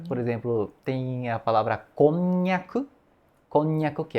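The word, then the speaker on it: こんにゃく: Por exemplo, tem a palavra "konnyaku", "konnyaku", que é aquele, a comida japonesa, e a língua praticamente cola, né, no céu da boca quando fala, falamos "konnyaku", por conta da articulação do "nya", né?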